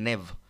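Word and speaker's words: knave: এ একটা শব্দ আছে এখানে কেটা একচুয়ালি প্রোনাউন্স হবে না আমরা উচ্চারণ করব নেভ হোয়াট ট্রেড দাও নেভ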